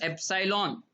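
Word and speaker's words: epsilon: यहां पर सिंबल लिखना क्या है, एप्सिलॉन not, right, pronunciation is एप्सिलॉन, please keep in mind.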